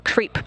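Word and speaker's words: KREEP: have a weird component that we call creep and it's spelled k r e e p and Central potassium Rare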